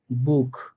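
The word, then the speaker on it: Buch: তো এই ইউটা পাইছি, এর জন্য আমি সিএইচটাকে এখানে খ এর মতো করে উচ্চারণ করছি, বা খ এর মতো করে উচ্চারণ হবে। তো উচ্চারণটা হলো কি, বুক, বুক, অর্থাৎ খ এর মতো করে হয়েছে।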